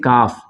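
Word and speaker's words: calf: अब देखिए इसको पढ़ेंगे इसको कल्प नहीं पढ़ेंगे इसको पढ़ेंगे कफ क्योंकि एल साइलेंट हो जाएगा तो पढ़ेंगे कफ ठीक है ना कॉल्स नहीं पढ़ेंगे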